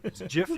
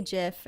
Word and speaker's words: GIF: one big organic mess-up jiff like the peanut butter i used to say jiff and then i said you conformed people beat it out of me you gave in enough